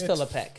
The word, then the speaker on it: Philipek: I'm like, it's not Philip. It's Philip Peek because he I said it right.